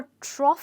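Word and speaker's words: trough: में भी हम ओ यजीएच लगाएंगे ओके और ट्रॉफ का मतलब होता है फॉर एग्जांपल अगर आप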